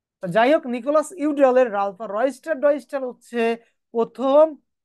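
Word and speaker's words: Udall: Nicolas ইউডাল Nicolas ইউরালভা অনেকে উচ্চারণ অন্যভাবে করে থাকে নিকোলাস উডালো বলে থাকে যাই হোক নিকোলাস ইউডালের আলফা রয়স্টার রয়স্টার হচ্ছে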